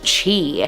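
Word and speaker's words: Χ: But if we look at the history of the word Christ in Greek starts with the letter X, but it's pronounced chi.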